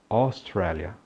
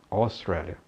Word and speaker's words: Australia: Toda vez que você vir, considerando, é claro, algumas exceções, a grafia AU, ela terá o som de O, sendo esse O aberto.